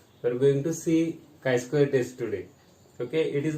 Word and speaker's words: chi-square: Okay, CHI. It is pronunciation is KI, chi-square.